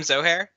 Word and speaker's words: Zohair: Hi, I'm Zohair. Rhymes with no hair, so that's a fun way to remember it.